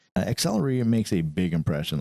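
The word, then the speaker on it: Xtellerator: the Artisan colory accelerator yes I'm accentuating the X because it is spelled X t e l l e r a t o r not accelerator it's accelerator this thing is a beast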